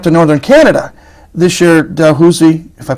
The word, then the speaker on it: Dalhousie: This year Dalhousie, if I pronounce that right. Dalhousie, yeah.